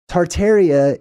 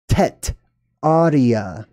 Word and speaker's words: Tartaria: Tartaria is a mispronunciation, however, it still works. I'm going to explain what I mean by that. The original word was not Tartaria, it was Tetaria.